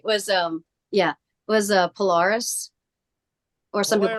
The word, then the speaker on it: Polaris: The other one in October that I went to, if I'm remembering this right, was Polaris, or some people call it Polaris. The band members call it pronounce it Polaris, so that's what I'm going with.